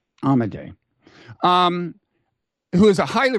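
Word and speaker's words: Amodei: his his last name I believe it's amade amade um who is a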